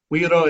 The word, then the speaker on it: güiro: So, güiro is how you're supposed to say it. You don't actually say the G there.